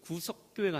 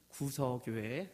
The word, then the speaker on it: 구서교회: 상주 구서교회 가는 거는 구석교회가 아니라 우리 발음이 세서 구석교회가 아니 구석교회라고 발음한 것이 아닌데 현지 분들은 구석이라고 알아들으시더라고요. 구서교회, 네.